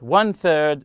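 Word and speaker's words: thirteen: So again, teen numbers such as 13 and 14, we stress the first syllable when we are counting, but when we are talking about quantity, time, or money, we stress the second syllable.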